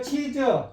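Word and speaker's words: 妻子: 여기에서 조심하세요. 여기를 이 질자를 갖다가 삼성으로 읽으면은 마누라와 아들이 돼요. 처자식이 되는 거예요. 요게. 그런데 요것을 친성으로 읽으면 치즈 하면은 아내가 돼요. 아내.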